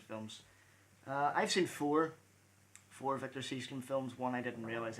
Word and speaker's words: Sjöström: I used to think it was Sjöström because of the way it's spelled, but it's Seastrom.